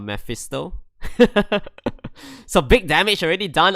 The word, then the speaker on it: Mephisto: happy to let the memphisto the meth the mephisto true yeah i always pronounce that name wrong i don't know why i always call it memphis though instead of mephisto so big damage already